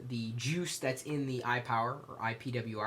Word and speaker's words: IPWR: I power or ipwr I'm not exactly sure how they want me to say it but I'm going to say I power because it's pretty much what it is although it's spelled I pwr I've got to say